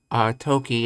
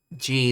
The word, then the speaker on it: 時: So the way you'd actually distinguish whether you pronounce it as G or toki is you'd have to take it in context. You know, when using this symbol in this context, you say toki, and when you use it in another context, you say G.